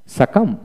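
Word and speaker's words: succumb: তারপর আসেন সাকাম সাকাম বি উচ্চারিত হবে না, এখানে দুইটি অক্ষর উচ্চারিত হবে না, একটা হলো সি আর একটা হলো বি।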